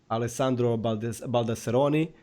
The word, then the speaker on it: Alessandro Baldasseroni: So guys, this was episode 32, Alessandro Baldasseroni. And did I pronounce it good?